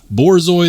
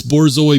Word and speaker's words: Borzoi: And yes, it is pronounced Borzoi. The first time I saw this, I thought maybe it was bourgeois or like bougie. No, it's Borzoi.